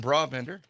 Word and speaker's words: Brabender: We have Brabender. Am I pronouncing that correctly?